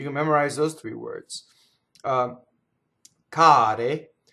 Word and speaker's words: care: Notice that the R in care is not rolled. Why? The R is surrounded by vowels. So remember, an R has to touch a consonant for it to roll. So it's not carre, right? Carre would be train boxcars. Care are plural things that are dear or expensive. Care, right?